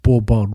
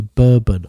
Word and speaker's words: Bourbon: This is pronounced Borbon rather than the bourbon of the American whiskey drink.